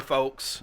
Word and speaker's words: folks: I don't pronounce the L.